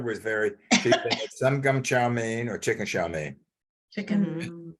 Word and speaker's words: chow mein: But how did you pronounce that word? Chow. Chicken chow. Chow Okay, mein. you It said was all charmaine. You said charmaine. charmaine. Oh, chow mein?